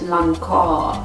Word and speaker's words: Lancôme: Jetzt habe ich ein Parfüm von Lancôme, Trésor. Eigentlich wird das Lancôme, Trésor. So wird das eigentlich ausgesprochen, ne?